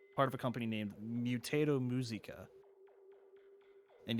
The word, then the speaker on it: Mutato Muzika: of a company named mutato muzika and yes that's actually how you say it because it's like mutato like potato mutant and muzika like the french word i think for music so mutato musica he